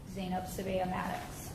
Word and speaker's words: Sbeih-Maddox: 665 and 635246, State of Ohio versus, I'm sorry, how do you pronounce? Sbeih-Maddox.